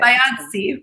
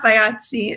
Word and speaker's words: Bayadsi: I got your last name wrong. Bayadsi, it's okay. Bayadsi, Bayadsi. It almost sounds Italian.